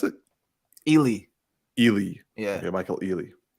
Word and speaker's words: Ealy: like who's Michael Allen I said ailing oh ailing okay yeah how do you so how do you pronounce it Ely Ely yeah yeah Michael Ealy but yeah yeah